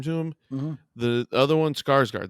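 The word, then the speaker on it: Skarsgård: him the other one skarsgard that's how you say his name skarsgard okay um i just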